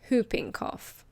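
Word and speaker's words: whooping cough: Now we have Hooping Cough. Be careful of the pronunciation. The W is silent. It's hooping cough.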